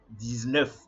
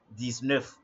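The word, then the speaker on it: dix-neuf: this we and now to say 19 in French you know what to say you know what to say is that so that is 109 this Nerf this Nerf that's all all right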